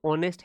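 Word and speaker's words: honest: Singular है तो आपने कहा, फिर प्रोनाउंसिएशन देखा कि ऑनेस्ट है। ठीक है, तो ओ का साउंड आया है ऑनेस्ट में, ओ का साउंड आया है।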